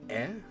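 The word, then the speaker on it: え: This is E, or E, the equivalent of the vowel E in English. You pronounce this one as E.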